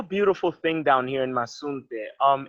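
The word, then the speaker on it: Mazunte: But yeah, speaking of like where you are now, sorry, I can't pronounce the name, but Masunte. Masunte.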